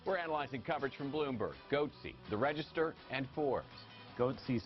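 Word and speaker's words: Goatse: He named his company Goatsy Security, so if you know what Goatsy is, G-O-A-T-S-E, I'm not going to explain it.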